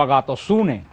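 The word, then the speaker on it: ἀγαθωσύνη: Y la bondad, que son tres frutos que están muy relacionados, entramos, la palabra bondad, la Biblia se pronuncia como agatosune, que se pronuncia en griego la palabra bondad.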